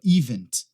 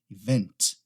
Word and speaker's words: event: Muita gente acaba colocando a ênfase na primeira sílaba, event, event. Não, nesse caso aqui é na segunda, event, event, tá?